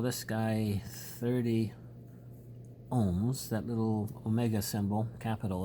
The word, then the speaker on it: ohm: small they are let's call this guy 30 ohms that little Omega symbol capital Omega is pronounced ohm Oh hm in physics let's make